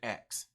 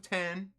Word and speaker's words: X: there is gonna be its powers of 10 it's an ex unless they tell me that it's 10 which I haven't seen anywhere when it's spelled out somewhere says powers of X not powers of 10 go oh go and